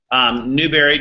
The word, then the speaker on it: Newberry: Newberry, just like strawberry. Okay, Newberry, just how it sounds.